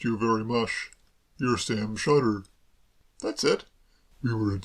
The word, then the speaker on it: Shotter: Sam Sotter? If you prefer it that way, certainly. I've always pronounced it Sam Shotter myself.